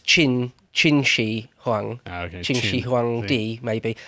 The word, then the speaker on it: Qin: there you go yeah Quinn is chin for a start but um another thing just very quickly to sound that is to pronounce it properly not only do you need to know sort of what it's supposed to sound like but you've really kind of got to put on a Chinese accent to do it real